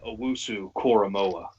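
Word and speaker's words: Owusu-Koramoah: It is Jeremiah Owusu Koromoa.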